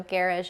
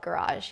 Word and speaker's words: garage: So Garage is a music genre, and you can't call it garage, you just can't. It's garage. That's, that is what it is.